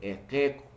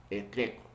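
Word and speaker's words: iqiku: Entonces, en la parte escritura es iquiku, así tal como yo estoy pronunciando, ¿no? Así se escribe, iquiku. Pero en la parte pronunciativa ya se lee equeco, legalmente, equeco, ¿no?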